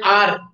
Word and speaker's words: hour: H is silent there. You can meet me after an hour. He came an hour late.